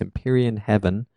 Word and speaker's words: Empyrean Heaven: tell me if I'm saying it right, is Empyrean Heaven, right?